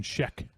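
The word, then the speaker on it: Schaech: Oh, Jonathan Sheek, that's how you say it. Sheek. uh Shahek uh in 1958.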